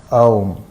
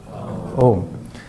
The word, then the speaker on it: Om: The mantra is pronounced Om. Try that. Om.